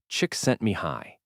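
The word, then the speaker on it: Csikszentmihalyi: Back in the 1970s, a psychologist named Mihali Shik sent Mihali, pronounced chicks sent me high, set out to answer a deceptively simple question.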